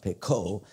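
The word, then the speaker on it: Picot: name from France p i t but it's pronounced Pico so it's called the Sykes Pico agreement and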